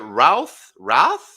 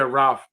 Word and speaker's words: Routh: Routh. Brandon Routh. Yeah, Routh.